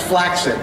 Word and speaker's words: flaccid: say flaccid he and fl's pronounced flaxin by the way oh next question hi